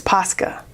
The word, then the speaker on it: Posca: said I don't have somebody corrected me on the way I pronounced posca and it said it's posca so I'm a little I'm